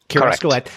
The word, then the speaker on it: Kerascoët: And is that how you pronounce it? Yes. Kerascoët.